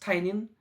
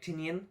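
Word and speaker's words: Tynion: was written by james tanyan i think that his name is pronounced tylen although most of us won't want to pronounce it like tinian the fourth and illustrated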